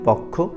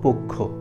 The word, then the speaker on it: পক্ষ: শুদ্ধ উচ্চারণ দেখে নেই এক নম্বরে হচ্ছে পক্ষ আমরা অনেকেই ভুলভাবে এটাকে বলে থাকি পক্ষ এটা পক্ষ হবে না আমরা এটাকে শুদ্ধ করে বলবো পক্ষ দুই নম্বরে হচ্ছে কক্ষ